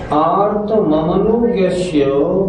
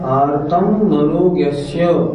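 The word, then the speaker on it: आर्तममनोज्ञस्य: बहुत से लोगों का उच्चारण होता है आर्तम मनोज्ञस्य, नहीं, ऐसे नहीं। आर्त ममनोज्ञस्य संप्रयोगे। सूत्र का अर्थ देखें।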